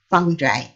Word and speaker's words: fungi: how to pronounce this word, fungi or fungi. Yeah, in English, it is fungi.